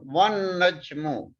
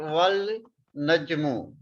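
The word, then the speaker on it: والنجم: One najmu is pronounced at one najmu and not wal najmu or wa an najmu.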